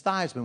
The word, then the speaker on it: Theismann: I said dad tell me how do you pronounce our last name he looked at me for a second he said it's Theisman why are you asking